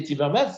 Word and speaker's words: Timmermans: Timmermans, Didier Timmermans, si je prononce bien son nom.